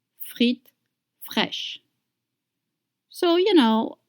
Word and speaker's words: fraîches: Look at that word, fresh, and do you see the accent on the I? It's called accent circumflex, and it doesn't change anything in the pronunciation. AI in French makes the sound E.